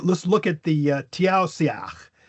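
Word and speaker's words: Taoiseach: It has an I on one side of the S and an E on the other. And so we go ah immediately we go because now we have this little knowledge here. Those are slender vowels. Slender vowels make the s sh right?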